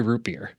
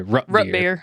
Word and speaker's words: root beer: The word, how do you say root beer? Root beer. Oh, in Michigan, a lot of people would say rut beer, Or yeah. instead of creek, they'd say crick.